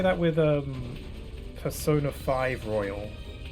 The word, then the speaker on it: Persona 5 Royal: You know, I've heard people say that with um Persona 5 Royal. It's it some people say Persona 5 Royale.